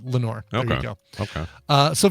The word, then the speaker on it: Lenore: Yeah, he's always lamenting the loss of Lenore.